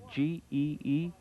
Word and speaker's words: Gee: your last name is g-e-e how's it pronounced gee is not in g but as in ghee right okay and howard